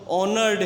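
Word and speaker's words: honoured: Forgive him but also ऑनर्ड हिम। अब यहाँ पे एच साइलेंट है बेटा, एच के बाद ओ, तो ओ की आवाज़ आएगी, एच साइलेंट हो जाएगा।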